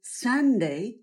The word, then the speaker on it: Sunday: źródło światła i życia wymowa s przeanalizujmy litery w pierwszej sylabie s jest bardzo soczyste w języku angielskim i niemal zawsze przytrzymywane dłużej następny dźwięk to w języku angielskim mamy trzy rodzaje a długie a a jak w wyrazie szerokie kozie a jak w wyrazie czyli kot i trzecie to niskie jak